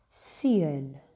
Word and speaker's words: seun: And we've got seun. Seun. Son. I'll pronounce that again. Seun. So when you get to that, you purse your lips like you're blowing a kiss, right?